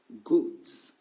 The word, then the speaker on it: goods: Goods. Si vous retirez le S, il devient un adjectif bon et c'est plus pareil. Goods. All right? So, prononcez bien le S.